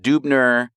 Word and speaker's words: Dubner: So Dubner was more typically pronounced Dubner.